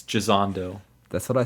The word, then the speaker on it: Gisondo: Yeah, I said it right. Yeah. It's Gisondo.